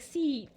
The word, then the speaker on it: Seath: you're pronouncing stuff, but it's really not pronounced like Seth, like the normal man name. It's like Seath, with the E sound.